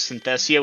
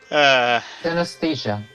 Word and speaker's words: synesthesia: Dungeon Master, my character has Synthesia, which causes them to visualize their health as a number, and they see a blank. oh, I saw that one. Synesthesia.